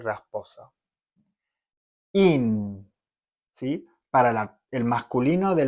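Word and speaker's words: ihn: In. ¿Sí? Para el masculino de la tercera persona. In. Con N. Acá, perdón, me faltó agregarlo. Es una H muda. ¿Sí? No directamente no suena. In.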